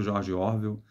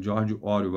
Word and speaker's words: George Orwell: do or eu sempre eu falei durante muito tempo George orvel mas é georg or a pronúncia a melhor pronúncia eu diria vou dizer a pronúncia correta mas a melhor pronúncia do nome do autor e a partir de